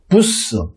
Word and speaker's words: bus: 버스 같은 경우에는 BUS지 않습니까? 그걸 발음을 어떻게 하시면 됩니까? BU 같은 경우에는 부라고 읽어주시면 되고요. S 같은 경우는 즉 BUS는 스페인식으로 읽게 되면 부스 그렇게 읽어주시면 됩니다.